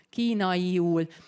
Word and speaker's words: kínaiul: Aha, kínaiul. In Hungarian we don't have diphthongs, so even if you see 3 vowels next to each other, we pronounce them like full vowels.